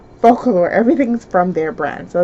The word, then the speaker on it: Focallure: Why am I pronouncing it wrong? Focallure.